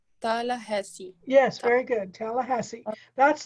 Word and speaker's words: Tallahassee: It's called Tallahassee. Tallahassee.